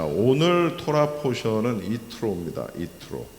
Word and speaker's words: Yitro: 이트로 이트로 어 이트로라고 이렇게 발음을 하면 이게 누군지 잘 모르실 텐데 우리가 보통 모세의 장인 이드로를 잘 아시죠? 그래서 이드로를 어 이야기하는 것입니다.